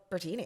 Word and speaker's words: Brittini: like you know what my name is actually phonetically brittini so I'm just going to call myself bertini I love it and